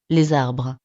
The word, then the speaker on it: les arbres: Por ejemplo, en estas frases, la primera palabra es la misma, pero el S final no se pronuncia de la misma manera. les voitures, Les arbres.